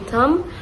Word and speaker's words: thumb: Um after that we also explore about silenc labels like which letters are written but not pronounced like B in thumb or K in no.